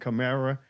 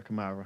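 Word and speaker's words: Kamara: Um, if I had a followup, definitely Alvin Chimera. Uh, and Chimera Kamarra, I'm sorry.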